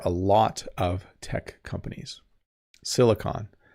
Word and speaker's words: silicon: lot of tech companies silicon valley not silicone silicone is like a substance you use to glue things together or seal things but silicon um yeah hopefully I'm saying it right algorithm.